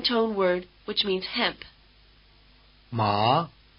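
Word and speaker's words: 麻: with a rising intonation think of the question Ma and it may help you pronounce the rising tone word which means hemp but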